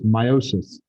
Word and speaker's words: meiosis: even saying it correctly i always emphasize the me part so you guys as students can kind of make sure you know the difference but really it's meiosis which boy sounds a